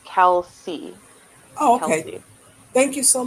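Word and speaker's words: Kelce: i don't know but music says that it's pronounced kelsey oh okay thank you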